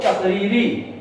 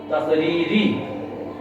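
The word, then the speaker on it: تقريري: তাহলে ফেলি হলো, আর মৌন থাকাটাকে আমরা বলবো তাকরিরি, তা কফ রা ইয়া রা ইয়া, তাকরিরি। বাংলায় উচ্চারণ লেখো তাকরিরি।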